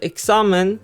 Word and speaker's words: examen: Examen should not have an accent mark since it ends with N, meaning the second to last syllable should be stressed, which also is the case.